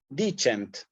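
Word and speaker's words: dicent: va en la penúltima sí dichant lo mismo the change también es palabra bisílaba donde ve el acento en la penúltima sí es una de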